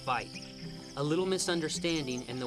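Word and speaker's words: wyd: White rhinos have wide lips, and most likely got their name from an Afrikaans word for wide, that's pronounced vite.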